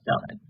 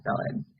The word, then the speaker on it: psyllid: is a picture of a psyllid phyllis at the silent p are very tiny insects